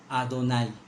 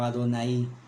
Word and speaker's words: Adonai: en las Biblias hebreas, Adonai o Adonai. Se puede pronunciar de las dos formas. Hay palabras hebreas que el acento se puede poner en diferentes partes, ¿no?